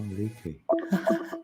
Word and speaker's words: Liedtke: Oh, Leaky. I've said his name wrong for years.